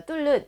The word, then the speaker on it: 뚫는: 그래서 리을과 니은이 만났을 때는 우리가 유음화가 진행이 됩니다. 그래서 니은이 리을로 발음돼서 우리가 뚫는 이렇게 유음화가 진행된 발음이 맞는데 이제 적절하지 않게 표기가 되었고요.